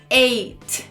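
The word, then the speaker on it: eight: and have Seven Children Number Ei a gente tem um G H I mas esse GH é mudo olha que maravilha então você só tem que pronunciar Ei é esse que também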